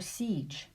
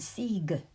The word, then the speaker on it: siege: create the right pronunciation consider a word like voice or siege without the e on the end we would have voice and see the e is not acting as a magic e it's not creating long vowel sounds it's simply there to give us the right pronunciation for the C and the G now there are times